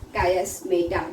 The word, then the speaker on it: chiasmata: ठीक है, chiasmata, chiasmata, you will hear different pronunciation for this. So it is chiasmata.